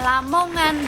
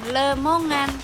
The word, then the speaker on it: Lamongan: aku cek pakainya nama Lamongan, bukan Lemongan. Tapi ada dugaan bahwa namanya berubah jadi lemongan karena penyesuaian dengan pelafalan lokal dan itu wajar terjadi.